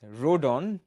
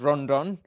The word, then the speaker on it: Rodon: Rodon, not Rondon.